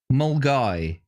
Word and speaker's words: Milngavie: Mulgai.